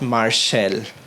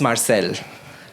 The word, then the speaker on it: Marsal: It's not Marshall, it's Marcel, right?